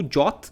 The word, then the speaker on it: JWT: interessantes né como o jot Né o nosso famoso jwt que se pronuncia jot que é muito utilizado